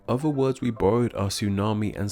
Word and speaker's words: tsunami: In English, we don't start words with these clusters of consonants, so when we took these words into our own language, we simply kept the spelling but didn't bother pronouncing the first letters.